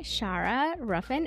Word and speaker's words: Shara Ruffin: hope you enjoy I have with me today Shara ruffen and Shara am I pronouncing your name right can you let me